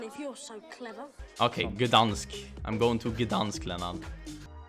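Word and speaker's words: Gdańsk: It's not Danzig, it's Gdansk. You're saying it wrong. It's Leviosa, not Leviosa. You do it then if you're so clever. Okay, Gdansk.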